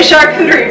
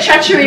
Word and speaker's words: charcuterie: A charcuterie board. I said it right. I called it. Keep going for 4. Come on. 3, 2. Good. Last one. Last one. I called it a treachery board.